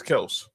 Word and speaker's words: Kelce: Like how everyone kept saying how people still say Travis Kelce, but he says it's Kelse and Jason Kelsey says Kelse Grill.